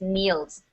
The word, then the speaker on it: kneels: this word is knels the the K is silent you don't say the K it just kneels what does it mean